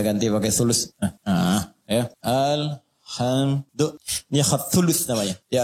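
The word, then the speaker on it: الحمدُ: Jadi alqus alamid bacaan di karbaah semua para pembacanya itu mendomahkan huruf dal di alhamdu ya.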